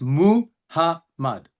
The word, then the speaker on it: Muhammad: But the word Muhammad has three vowels and three syllables. Muhammad. It's pronounced Muhammad.